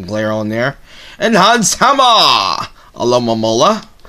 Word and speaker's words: Alomomola: Alomomola, that's how you say the name, I was saying it wrong the whole time, Mystic Eye Energy, reverse